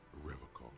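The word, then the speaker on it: Revachol: calm okay he pronounces rivercock yeah unlike other people you said i like to pronounce it the hard way the old way the vespertine way sounds a bit pretentious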